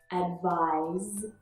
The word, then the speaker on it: advise: Advise and advice. The difference is in the final consonant sound. Z and s. Very slight.